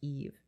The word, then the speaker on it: Yves: She made a song called "Kiss a Kitty with Her GF," pronounced Yves, pronounced Eve.